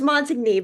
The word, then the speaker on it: Montigney: So I pronounced the last name right, right? It's Montigny, but it was close.